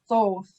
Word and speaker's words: Thoth: and now we're going to the next wall this is nepatari with the god thoth or toth it depends on how people pronounce it the egyptian he was